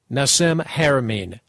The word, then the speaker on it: Nassim Haramein: Nassim, first of all, please pronounce your name so that throughout the interview I'm pronouncing it correctly. My name is Nassim Haramein. Nassim Haramein.